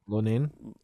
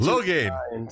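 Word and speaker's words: Loughnane: Lonan. How do you say it? Lonan. Come on, baby! You can do better than that. No, 2 + 2. Lohan. So Lohan. Okay.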